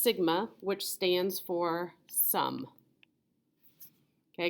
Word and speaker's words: sigma: So it's the Greek, didn't leave you enough room here, capital letter for S, pronounced sigma, which stands for sum.